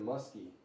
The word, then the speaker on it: Musky: A big right-hander Bronin Musky pronounced like the fish.